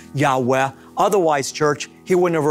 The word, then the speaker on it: Yahweh: are calling god Jehovah and this is a mispronunciation of God's holy sacred name a breathy Yahweh and the reason that the Gentile church is calling upon God by Jehovah oftentimes rather than Yahweh is because the ancient Jewish scribes actually did